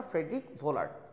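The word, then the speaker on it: Friedrich Wöhler: যেটা পরবর্তীতে আর ডেকে নেয় সো ফ্রেডরিক ভোলার্ড উচ্চারণটা ফ্রেডরিক ভোলার্ড তো তাকে আধুনিক জৈব যৌগের জনক বলা হয়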